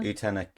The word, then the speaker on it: Utena: which is it utena is that how you pronounce it utena yeah utena so Anna danan asked you which utena character